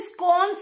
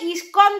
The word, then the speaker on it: ইসকন: একটা আলাদা ব্যাপার কিন্তু কচি খোকা তুমি স্কন স্কন স্কন কেন করছো আরে ওটা ইসকন তো তুমি স্কন স্কন করছো কেন সত্যি কথা বলতে ভীষণই